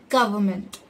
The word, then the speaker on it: government: the correct pronunciation is government the stress should be given on the letter G the fifth word is